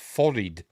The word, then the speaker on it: forehead: but it doesn't really work as forehead is pronounced fored not FD you know so five head wouldn't